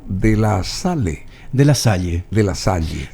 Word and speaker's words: Salle: De la Salle, si es que uno lo va a pronunciar en francés. Así, Salle es. Sí, Salle. Salle Sí. Es sal. Sal es la sala en francés.